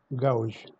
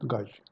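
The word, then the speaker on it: gouge: the one damage classification the spelling is g o u g e gauge gauge not gauge okay thank for my friends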